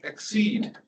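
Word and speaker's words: XSEDE: used to be called exceed okay you can Google for those names and get somewhere exceed is not spelled the English word it's spelled with X and S E D but those are the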